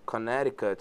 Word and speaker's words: Connecticut: E mais um detalhe só aqui em relação à palavra Connecticut, só para falar, a pronúncia é Connecticut. Connecticut, muito embora se escreva Connecticut, né? Você fala Connecticut.